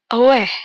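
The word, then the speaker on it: 웨: Lanjut, ada W, penulisannya W, tapi untuk pembacanya tuh weh, seperti memuntahkan sesuatu.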